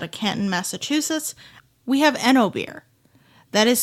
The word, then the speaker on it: Oenobier: We have Eno beer. That is spelled OENOBIER, for those of you who need to type that into anything.